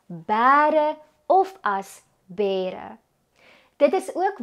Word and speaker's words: bêre: Omdat die letter E 'n lang e klank voorstel, hoef ons nie 'n kappie te gebruik nie. As ons egter wil wys dat die letter E in so oop lettergreep wel 'n gerekte klank aandui, moet 'n kappie bo-op die letter E geplaas word. Gevolg spreek ons die woord uit as bêre of as.